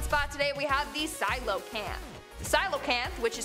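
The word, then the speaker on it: coelacanth: our number one spot today we have the silo camp silo camp which is spelled nothing like it's pronounced i thought it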